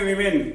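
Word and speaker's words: women: वुमन एक जगह ई हो जाएगा, विमेन, इसको बोलेंगे विमेन, वुमन सिमिलर विमेन, एक का ई हो जाएगा।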